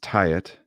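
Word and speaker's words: Taet: He's it looks like Tate, T-A-E-T, Tate. Mm-hmm. And he goes by Tate Music on Instagram, but it's pronounced Tyet.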